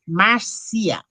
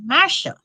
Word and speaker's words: Marcia: house but you know in jamaica my name is pronounced marcia right here they pronounce my name marsha even the parents and so it takes a lot for you to go in and say oh i'm not marsha i'm marcia so you know the poor